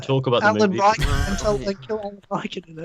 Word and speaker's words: Rickon: When she pronounces it Rickon, she's wrong.